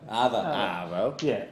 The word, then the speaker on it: arvo: But did I pronounce it right? Arvo? Arvo. Yeah.